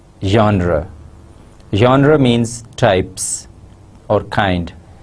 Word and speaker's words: genre: personal narrative genre first the word genre is a French word and it should be pronounced as genre genre genre means types or